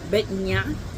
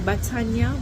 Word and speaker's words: Batanya: And Betnya. I keep saying Batanya because it's b a t a n y a. But uh I think I've said it before, it's not all the letters are pronounced like all pronounced them.